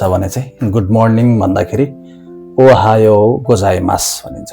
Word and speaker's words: おはようございます: विशेष गरि ध्यान दिनुपर्ने कुराहरु चाहिँ अ ओहायो गोजाई मास भन्दा हुन्छ है त ओहायो उ गोजाई मास भन्नु पर्दैन उलाई उच्चारण गरिरहन आवश्यक छैन।